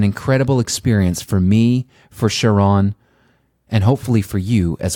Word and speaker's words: Cheron: And I should confirm the pronunciation of your first name. Cheron. Cheron.